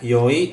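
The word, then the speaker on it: 良: Oke, itu bacanya yoi atau i, artinya baik atau bagus.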